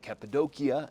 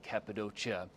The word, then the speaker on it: Cappadocia: It's a one-hour plane ride from Istanbul, pronounced both Capidokia and Capidocia.